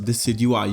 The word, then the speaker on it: Decidueye: And now you can kind of say, well, that's how you pronounce it, Decidueye. You would pronounce it based on its base word, deciduous.